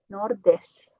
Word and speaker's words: Nordeste: E Nordeste porque temos aqui uma T no final, então a pronúncia vai ser como Ti, Nordeste.